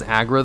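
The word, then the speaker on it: Aggra: Her name is usually pronounced as Agra, though, in game and in text.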